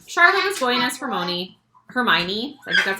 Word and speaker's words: Hermione: be for Halloween Charlotte join us for Moni Hermione that's how you say her name from Harry